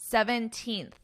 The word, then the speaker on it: 17th: notice my pronunciation because even though it isn't written as the little th, you know when you see the date and it gives you the little th, 17th. Notice what my mouth is doing. My tongue comes between my teeth and I push out.